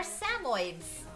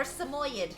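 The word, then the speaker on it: Samoyed: of dogs are they they are samoids or samoyad however you'd like to pronounce it they're super cute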